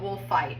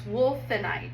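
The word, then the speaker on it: wulfenite: Wolfenite is um because I always call it wolfite and I and I always mispronounce this. It's wolfenite and it's around um the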